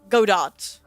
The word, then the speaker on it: Godot: The T is silent. No, Godot.